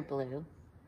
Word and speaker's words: blue: spells his name but the color blue has a letter e at the end that's silent e i that's a tricky